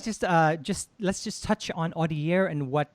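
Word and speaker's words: Audiaire: another journey and created, I hope I'm correct when I pronounce it, Audiare. Is that correct? Yeah. That's absolutely right.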